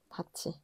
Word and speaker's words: 밭이: 그래서 얘가 바티라고 바뀌는게 아니라 바치라고 바뀌어요. 잉? 바치.